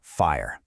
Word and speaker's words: FHIR: That's FHIR, and it's pronounced fire. Now, people have tried to create standards like this before, but they were usually way too complicated or rigid. What makes fire so different is that